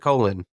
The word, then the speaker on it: Colin: Uh, it's like spelled Colin, but in the show they do pronounce it Colon.